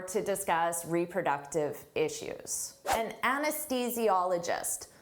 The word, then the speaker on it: anesthesiologist: An anesthesiologist. Don't let this spelling confuse you. Native speakers have difficult with the pronunciation of this. Anesthesiologist.